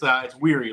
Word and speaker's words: Wehry: You know, I mean, George Shea just occasionally mispronounces it on the Nathan stage, but it's Wehry, like tired.